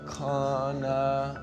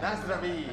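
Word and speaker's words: na zdraví: Kona. Kona. No. No. Na, na, na, na, na. It starts with na. Na. Na. Nazdraví!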